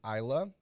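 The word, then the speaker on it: Iyla: that i really really like her name is isla the song is juice it's spelled i-y-l-a you can find her in spotify youtube or on apple music ayla is a 27-year-old rmb or soul singer from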